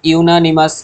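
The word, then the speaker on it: unanimous: dash ইউনামাস decision তাহলে ইউনাানিমাস এখানে ইউ এর দেখো ইউ এর যে প্রোনাউন্সিয়েশন হচ্ছে কি ওয়াই দিয়ে দেখো ওয়াই দিয়ে শুরু হচ্ছে ইউ ঠিক আছে তাহলে হোয়াইট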